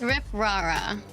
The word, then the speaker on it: Rip Rara: How do you say your name? Is it Rip Rara? Rip Rara? Which one is it? So it is Rip Rara.